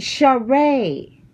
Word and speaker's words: Sheree: She pronounces it share. Oh, she pronounced it share. Sheree, not Sheree.